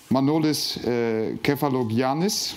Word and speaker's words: Manolis Kefalogiannis: First of all, Manolis KEFALOGIANNIS. Yes, you pronounced perfectly.